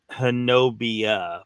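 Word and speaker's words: Honobia: This is close to Hanobi, Oklahoma. It's kind of a famous location, Hanobi. It's spelled Hanobia, but they pronounce it Hanobi.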